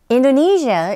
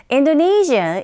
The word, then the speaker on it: Indonesia: Indonesia is located on volcanic zone, a volcanic zone called the Ring of Fire. 인도네시아보다는 인도네시아 이렇게 발음하셔야 되고요. 한 번 더. Indonesia is located on volcanic zone called the Ring of Fire.